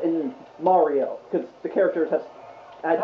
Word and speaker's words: Mario: No, everyone, that's how Italians say Mario. Really? No, but canonically, it's Samus and Mario, because the characters have had dialogue in the game.